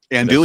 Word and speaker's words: andouille: Andouille.